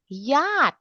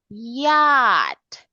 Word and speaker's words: yacht: Yacht. Okay, again. We spell it like this, Dudu, but we pronounce that word like this. Yacht.